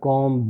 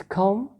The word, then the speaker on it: comb: The next word is comb, bomb, tomb, not comb, bomb, tomb, it's comb. Ba sound, this is a rule that whenever ba sound comes at the end of a word after ma sound, ba sound is not pronounced.